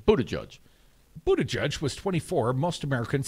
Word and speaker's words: Buttigieg: Buddha Judge. Think Buddha and Judge. Buddha Judge.